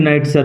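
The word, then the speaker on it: knight: And brave নাইটার Ulfius. উচ্চারণ লক্ষ্য করো। কেউ উইল রিমেন সাইলেন্ট।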